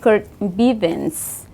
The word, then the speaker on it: Kurt Bivens: Kurt Bivens.